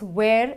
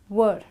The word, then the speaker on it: were: was and were where a lot of people pronounce this as where it's not where it's were okay so this was is a singular verb